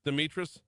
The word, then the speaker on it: Demetrius: I'm pronouncing Demetress. Is it Demetrius? Demetrius. Not like Dmitri but with I wonder if the Sign I don't know.